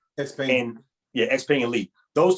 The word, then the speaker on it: XPeng: XPeng? XPeng.